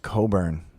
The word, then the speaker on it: Cockburn: like Bruce Springsteen again that's Bruce Cockburn Oh pronounced Coburn what you Americans don't